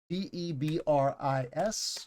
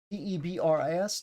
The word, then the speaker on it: debris: something like that right we say it like it has two e at the end debris debris some people say debris but a lot of